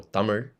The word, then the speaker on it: Tamil: So I consider Tamil to be my first language because Tamil is, or Tamil, which is how it's pronounced, Tamil, is how I spoke at home for the first few years of my life.